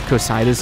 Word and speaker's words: Cocytus: and I'm pretty sure the only reason I'm able to pronounce the word kitis is because in Destiny 1 there was a Scout rifle called a kitis it was a um